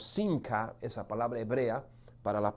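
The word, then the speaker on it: שמחה: Aú esa palabra gozo, hay una palabra hebrea en el original que fue escrito, la escritura se pronuncia más o menos sinca.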